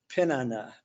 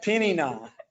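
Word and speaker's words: Peninnah: other one's name was pinana pina how do you say jenna it's like penny and then not penny not penny not thank you she's my my uh hebrew scholar here penny nah so hannah and penny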